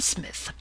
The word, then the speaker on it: Psmith: tone who are you i am smith said the old etonian reverently there is a preliminary p before the name this however is silent i like the tomb compare such words as tarmagen psalm and this is these